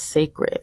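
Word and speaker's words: Cécred: though it is spelled that way Beyonce does pronounce it as sacred for people that may or may not understand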